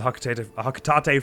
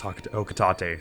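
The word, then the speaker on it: Hocotate: very minimal I was I always pronounced it Haka Tate um not knowing it was okatate so I'm I'm gonna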